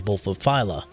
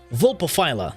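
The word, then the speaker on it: Vulpaphyla: to be coming from our panzer wolfophyla yeah volpophyla that's how you pronounce it and let's take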